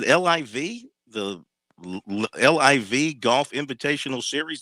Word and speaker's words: LIV: play in the uh they pronounce it liv the liv golf invitational